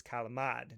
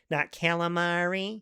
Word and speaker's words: calamari: It's kalamad in Italian. For those of you that are wondering why I'm saying it that way, that's because it is the correct way to say it. According to my Italian family, it is calamad, not calamari. So, let's let's just make that clear.